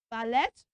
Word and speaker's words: valet: l e c yes valet no valet yes so we do not say valet we pronounce that word as valet not valet you understand that okay